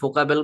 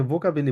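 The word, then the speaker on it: Vokabel: এখানে তো ভোকাবেল, আমরা কি ফোকাবেল বলতে পারি কিনা? আহ, এটা ভোকাবেল না, এটা আসলে অনেকটা ফাও। এটা যেহেতু মানে আমরা ইংলিশে ভি বলি, তো এটাকে আসলে ফোকাবেল না, এটাকে ভোকাবেলি বলে।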